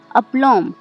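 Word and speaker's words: aplomb: कॉम में भी यहाँ पर एम के बाद बी आ रहा है, इसलिए यहाँ पे बी साइलेंट है। अपलॉम, APLOM।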